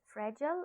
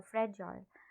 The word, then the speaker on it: fragile: fragile or a fragile the american pronunciation is fragile and the the british is uh fragile but okay flimsy box